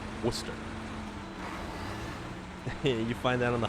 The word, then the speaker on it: Worcester: actually look at worcester lots of people pronounce it uh warchester so um yes i'm trying to find warchester or chess i'm trying to locate warchester please it's like no no no no no you're butchering it it's worcester worcester you find that on